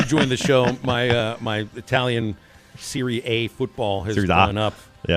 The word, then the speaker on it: Serie A: I thought it was Series A. Serie A. Serie A. Yeah, Series A, whatever. They don't pronounce it A in Italy.